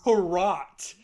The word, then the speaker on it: Hrot: I don't know how to pronounce this. Hrot. It's Hrot.